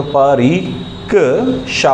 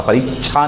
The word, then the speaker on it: परीक्षा: और भी देखो, परी क शा होता, परीक्षा नहीं होता, वह गलत उच्चारण हो।